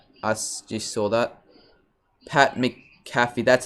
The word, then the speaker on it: McAfee: Pat McAfee, that's how you say it.